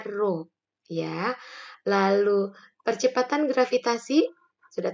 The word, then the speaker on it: Rho: Nah, ternyata ada 3 faktor yang mempengaruhi tekanan hidrostatis suatu zat cair, yaitu adalah massa jenis, dilambangkan dengan Rho, ini bacanya Rho, ya.